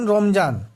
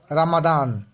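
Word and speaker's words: رمضان: যেমন রমজান, এর সঠিক আরবি হলো রামাদান।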